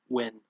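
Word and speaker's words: Nguyen: I like seeing Ben win. You know, I had to space that because his surname sounds like the word win.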